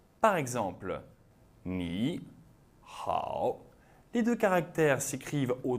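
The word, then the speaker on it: 你好: Eh bien, dans la plupart des cas, le premier troisième ton se prononce au deuxième ton, tandis que le ton suivant conserve son intonation initiale. Par exemple, ni, hao.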